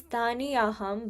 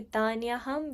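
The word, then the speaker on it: तान्यहं: And then tanyaham, it says taniyaham, but like you'll bring the two words together, so it'd be tanyaham veda sarvani, okay?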